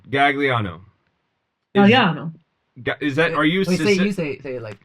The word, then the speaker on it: Gagliano: So the gli is one syllable in Italian, right? Galliano.